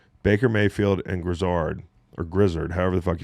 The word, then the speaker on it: Grizzard: Baker Mayfield and Grisard or Grizzard, however the you say his name, respectfully. Grisard. Grisard.